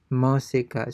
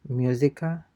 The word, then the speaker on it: música: Again, you have the accented U there. música, Música. So it's not musica.